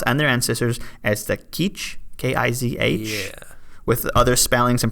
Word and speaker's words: Kizh: The descendants of the original people of Los Angeles refer to themselves and their ancestors as the Kizh, K-I-Z-H, with other spellings and pronunciation, including K-I-J, Kizh, and Quichereno.